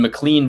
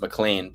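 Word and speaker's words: McLean: He's like, "I'm in Mlean, Virginia." I go, "Yeah, it's pronounced Mlan, but uh no worries.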